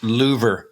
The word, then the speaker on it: Louvre: my facebook page and it's pronounced louver louver in the louvre and clive is